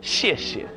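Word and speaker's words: 谢: Um this character is pronounced shi and that's how we say it simply.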